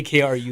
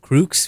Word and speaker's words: KRUX: You have to say KRUX. I've heard people like pronounce it like KRUX, which is weird. Like they make it sound like, and then people call us crooks.